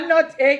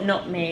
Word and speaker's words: nutmeg: A nutting egg. A nut egg, and the last time we hear nut egg with the and a lot of people have it. Yes. No, the person was trying to pronounce it the same. Nut egg, nut, and at the end of the day still don't make the right pronunciation. How can you mess up nutmeg?